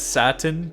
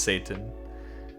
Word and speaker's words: Satan: I used to read it as Satan too, because that's how you would pronounce this in English. But then I learned that it's actually pronounced Satan. In I guess in Swedish.